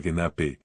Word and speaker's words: genap: una voz completamente distinta genap se pronuncia genap que significa completo en